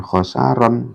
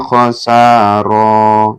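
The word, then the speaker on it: خسارا: Kenapa dibaca khasara? Ya, karena ini kan tanwin ya. Ketika diwakafkan bukan khasaron tapi illa khasara. Ya, cukup di ayun ya atau dua ketukan.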